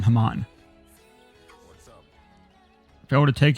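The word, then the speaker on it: Hamon: got something for us i pronounce it hammond come on moan i'm gonna keep i'm gonna keep calling haman if i were to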